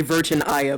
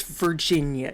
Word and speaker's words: Virginia: But it's Virginia, it's Maryland, it's Texas, not Texas ass or anything like that. Don't add syllables um to words that don't need syllables.